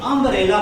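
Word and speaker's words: umbrella: हुआ अंब्रेला ऐसा पढ़ते उच्चारण को ध्यान दो उमेला नहीं बोलते अंब्रेला बोलते हैं अ केनर से चालू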